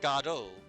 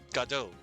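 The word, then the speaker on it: Godot: Um, so Samuel Beckett stated that God was the correct pronunciation for the character as in God and O, G O D, God, and then O. So Samuel Becka stated that Godo was the correct pronunciation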